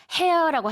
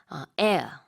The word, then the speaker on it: heir: 그러니까 여기서 말하는 일단 heir라는 거는 스펠링은 H-E-I-R인데요. hair라고 하지 않고 H는 묵음입니다. 자, 그래서 heir 이게 상속받는다라는 얘기가 되겠죠.